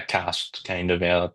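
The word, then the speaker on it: Castres: Cost. Costries. Yeah, that's that's around like Yeah, Cast kind of. Yeah, that's how you say it.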